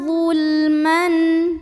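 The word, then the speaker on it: ظُلْمًا: Al-yatama zulman. Zul. Huruf lamnya dibunyikan secara jelas, namanya lam mutlak.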